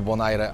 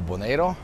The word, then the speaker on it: Bonaire: W porcie pani powiedziała, że mówi się albo Bonaire albo Boneiro.